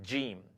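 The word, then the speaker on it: جيم: The name of the letter is jim.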